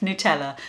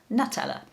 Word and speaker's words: Nutella: gonna start quite rightly with the original itself nutella which news to me is how you pronounce it says the company website here in the uk i've always known it as nutella as mentioned this is the creation of italian